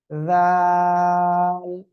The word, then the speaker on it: যাল: এই অক্ষরটা জিহ্বার আগা সামনের উপরের 2 দাঁতের আগার সঙ্গে লাগাবেন, কিভাবে আমি দেখাচ্ছি। যাল, যাল।